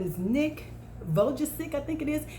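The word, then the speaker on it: Vujicic: you've seen him before his name is nick vogelsick i think it is it's pronounced vuj uh cic he is a motivational speaker very powerful he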